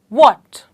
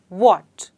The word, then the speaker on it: what: क्या सबसे इंपोर्टेंट बात कभी-कभी हम वट को किसी और तरीके से बोलते हैं जो गलत होता है इसको प्रोनाउंस करने के लिए बोलने के लिए बोलते हैं हम व्हाट okay so for example